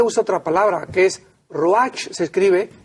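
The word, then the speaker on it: רוח: otra palabra que es roach se escribe se pronuncia roja en el hebreo entonces vemos aquí que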